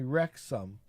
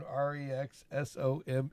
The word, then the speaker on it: Wrexham: And I asked her what the name of the town is, and she tells me Wrexham. Like, Wrexham. She Wrexham. says Wrexham. Yeah, now, because that's how it's spelled, but and that's she says how you Wrexham.